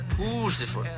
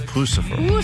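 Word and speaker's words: Puscifer: This is, as our boss would say, Pifer. Oh, it's Pucifer.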